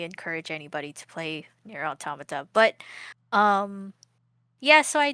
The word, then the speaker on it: Automata: Automata.